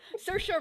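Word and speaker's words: Saoirse: to me in the chat on how to pronounce sorry it's certain she tried sercia ronan nailed it good job yeah i love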